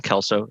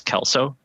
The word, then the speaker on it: Klco: name is kelso if you've seen the last name and you thought to yourself i don't have no idea how to pronounce that it is it is kelso a suspicious lack of vowels um i i i've